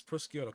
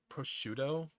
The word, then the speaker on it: prosciutto: But no, again, butter ham is prosciutto caldo, prosciutto crudo, this stuff.